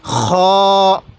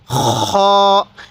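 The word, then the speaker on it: خ: বের করব হা এরপরে খ খ এই খ টা উচ্চারণ করব আমরা আমরা গলার যেখানে গড়গড়া করি কুলি করার সময় এই সেই জায়গা থেকে আমরা খ এরকম ভাবে উচ্চারণ করব এরপরে দাল দাল এই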